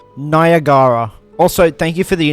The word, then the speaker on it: Niagara: is not a slur well apparently it's pronounced and I really can't screw this up I'm going to be cancelled nagara also thank you for